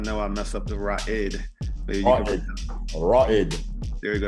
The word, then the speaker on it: Ra'id: All right, my brother, Ra'id. And I know I messed up the Ra'id. Ra'id. There you go. That's the more Arabic, appropriate pronunciation.